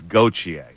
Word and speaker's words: Gauthier: It's Gauthier, by the way, not Gauthier.